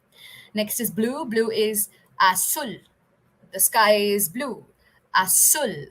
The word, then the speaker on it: azul: Blue is azul. The sky is blue. Azul. Sky is azul. Okay. The Z in Spanish is also, it's pronounced as sir many times, right?